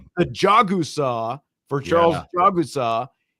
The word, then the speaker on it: Jagusah: Well, and he pronounced it Jagasaw. I've heard him say Jagasaw in an interview before.